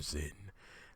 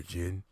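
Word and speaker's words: Zein: Return of com Rider Zen I know it's Comm Rider oh God excuse me I know it's Comm Rider Jin but it's spelled out Zen Z in and I like saying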